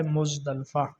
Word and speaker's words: مزدلفہ: اگلا لفظ ہے مزدلفہ۔ اس کو کچھ اور انداز سے پڑھتے ہیں، کوئی مزدلفہ پڑھتا ہے، کوئی کچھ، جبکہ اس کا درست تلفظ جو ہے وہ ہے مزدلفہ۔ غزوہ بنو مصطلق۔ غزوہ